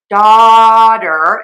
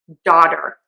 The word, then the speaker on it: daughter: So to say the word daughter, it's going to be an open a and think about saying daughter. Daughter. Daughter. Daughter. You can actually just say one. I said it wrote it with two D's. It's just one D. daughter, daughter, daughter, daughter. That's because we use that flap t.